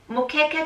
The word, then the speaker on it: moqueca: I'm going to be attempting, now correct my pronunciation if you are Brazilian or if you know the correct pronunciation and I'm saying this wrong, but I think it's called Moqueca Recipe. It's definitely called moqueca, and I think it's traditionally